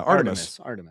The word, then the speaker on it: Artemis: Yeah, Artemis.